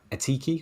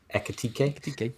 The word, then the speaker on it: Ekitike: You know, Atiki, or however you say his name for Liverpool, was 8.5. Ekitike.